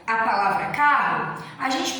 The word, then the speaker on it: carro: No momento que a gente pronuncia, a gente não pronuncia duas vezes o R. A gente pronuncia carro, a gente pronuncia o C, o A, o R e o O.